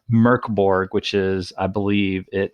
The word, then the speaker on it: Mörk Borg: It is Mörk Borg, and it is spelled Mörk Borg, Mork. Borg, but it's pronounced, as best I can gather, Mörk Borg, which is, I believe